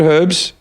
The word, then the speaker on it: herb: saying it right herbs who says herbs there's an H on it you know yeah yeah the British and the Australians uh pronounce the silent AG herb it's a why would it be a silent in America it's silent okay person called herbet do